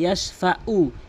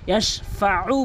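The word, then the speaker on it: يشفع: অধিকাংশ লোক বলে ইয়াশফাউ। ইয়াশফাউ এই আইনের জায়গায় হামজাইনে উচ্চারণ করে, ইয়াশফাউ বলতে হবে, ইয়াশফাউ।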